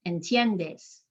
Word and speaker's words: entiendes: so in this case in tiendes there's only three syllables because the i and the e work together to make one sound called a diphthong i'm emphasizing that second to last syllable entiendess the a and the